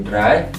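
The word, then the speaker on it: drei: ada ei jadi tai angka tiga itu dry ada ei juga dry angka empat itu Fe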